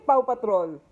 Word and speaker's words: Paw Patrol: There's no L. It's Paw.